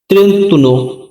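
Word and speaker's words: trentuno: তো চলুন শুরু করি 31 এর ইতালিয়ান শব্দ ত্রেতুন ত্রেতুন মানে 31 পরের সংখ্যাটি রয়েছে 32 32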